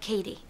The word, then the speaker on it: Cady: It's pronounced like Cady.